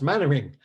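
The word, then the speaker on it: Mainwaring: out which is hilarious my name is pronounced mannering like dad's army it's an old tv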